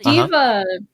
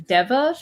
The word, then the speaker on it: Diva: funny story uh the diva uh nickname in the previous trial could not pronounce it right I thought it was Deva for the longest time oh yeah apparently you